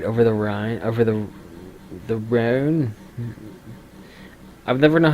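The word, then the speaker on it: Rhône: Rhone has a it's an actual place. Rhone. Apparently I pronounced it right.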